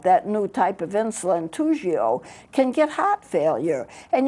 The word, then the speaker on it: Toujeo: It's pronounced Toujeo.